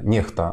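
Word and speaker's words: NEXTA: А он сказал, что по поводу Нехты, Нехта, она правильно произносится, по поводу Нехты есть много вопросов тоже.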